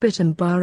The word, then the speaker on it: Pitambar: and am Barra cloth combined by way of sand are pronounced Pitambar and the mean cloth